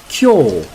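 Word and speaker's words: 今日: kanji or Chinese characters, we would read them kyo, kyo. You remember when we studied the hiragana? When u is placed after o, it makes a long o sound.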